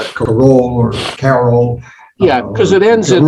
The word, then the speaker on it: Karoul: Yeah, I pronounce it Carol, but I answer to Karoul, and I've had people